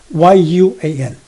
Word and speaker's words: Yuan: But X-I-U-A-N, Xuan, instead of Y-U-A-N.